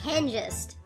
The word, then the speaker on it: Hengist: Oh god, his name is actually pronounced Hengist.